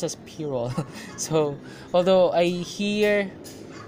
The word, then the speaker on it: pyrrole: colors are really popping out next we have pyrrole scarlet according to the online dictionary it's pronounced as Pierrot so although I hear Tyrell most of the time saying it's pure Oh scarlet next is permanent alizarin crimson next we